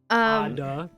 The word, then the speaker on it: Ada: Ada. Like advertisement without the advertisement.